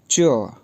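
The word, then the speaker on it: 这: जी, जो सबसे पहला न्यू वर्ड है ZHE, फोर्थ टोन के साथ, तो ये प्रोनाउंस होगा च।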